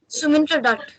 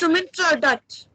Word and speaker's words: Sumintra Dutt: Sumintra Dutt. Can you spell that for me? SUMNIT. Yeah. N-I-T. No, I mean INT. Mint. Okay. RA. Is that like that? No. It's part of. It's Sumintra Dutt.